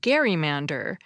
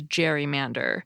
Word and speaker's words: gerrymander: and you'll notice that the term was originally pronounced gerrymander to reflect the pronunciation of Governor Gary's name